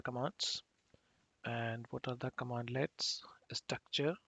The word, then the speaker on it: cmdlet: the powershell commandlets or cm deletes basically the cmd leds are known as all pronounced as commandlets and scripting how we